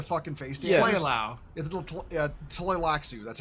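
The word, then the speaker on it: Tleilaxu: Tlaxu, that's how you pronounce it.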